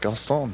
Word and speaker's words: Gaston: It's Anybody who's ever watched Disney, right, should know. Have you not seen Beauty and the Beast, people? Come on. Right, Gaston. Yeah, Gaston.